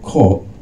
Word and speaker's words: Korg: So that's Korg, Q-R-G. Please pronounce it carefully, Korg.